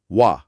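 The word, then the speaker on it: は: আন্টা হিসেবে কাজ করে তখন ওহ জাদুকরীভাবে এর উচ্চারণ পালতে গিয়ে হয়ে যায় ওয়াহ হ্যাঁ এটা অনেকের কাছেই শুরুতে বেশ অদ্ভুত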